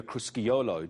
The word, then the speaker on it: Crusciolo: It's Crusciolo.